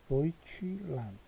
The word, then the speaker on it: Deutschland: Deutschland. 오이 발음이죠. Deutsch. 그 다음에 land. 이렇게 되죠.